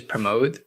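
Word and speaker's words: Pramodh: name is spelled p-r-a-m-o-d-h his name is promote right um and we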